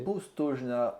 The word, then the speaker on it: Postojna: Ensuite, vas-y, je te laisse prononcer ce nom, parce que je ne sais pas le prononcer. Postojna en Postojna Slovénie.